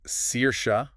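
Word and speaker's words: Saoirse: okay and then there's SARS SARS meaning Freedom yes pronounced CA such a unique name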